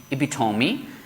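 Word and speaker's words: epitome: we have like epitomy e p i t o m e so the last e will have the S vowel e sound so so this will become epitomy and of course uh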